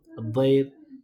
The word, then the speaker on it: الضير: الضير rhymes with khair, but it also just means darar, harm.